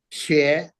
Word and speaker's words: 血: 血.